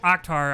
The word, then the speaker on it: Akhtar: pronounce your name correctly it's more like right yeah yeah but like at least you give every letter its attention like you know akhtar i think is the more like american way to pronounce that yeah but even